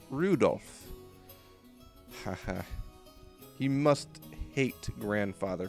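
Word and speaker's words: Rudolf: that's not helping anyway this guy's name is pronounced Rudolph haha he must hate grandfather for giving him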